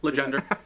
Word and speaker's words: Legendre: All right, without further ado, I want to welcome Legendre. Did I say it right? That's fine. Yep. Legender.